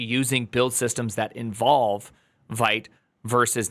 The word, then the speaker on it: Vite: Yes, I know it's pronounced Vite. I'm going to call it Vite.